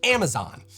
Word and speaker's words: Amazon: Anyway, in the US, this is pronounced Amazon. The final syllable is really drawn out.